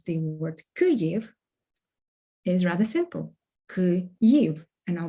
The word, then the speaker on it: Kyiv: ultimately coming back to how you'd like to pronounce the word kuryev is rather simple and i'll make it again